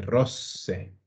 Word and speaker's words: rosse: per scusarmi Perfetto allora questo è un classico della pronuncia no le rose rosse la prima a una sola S Allora rose invece la seconda ha due rosse rose rosse bene finiamo con questo